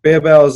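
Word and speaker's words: Barebells: I mean, there is an E in there, so it is technically Bear Bells. It just didn't make any sense, but Bear Bells is what I've been told is how they say it.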